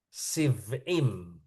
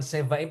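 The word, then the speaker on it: שבעים: huruf he huruf lemah smonim siv'im bukan sevaim tapi sivim ya ingat syin syim itu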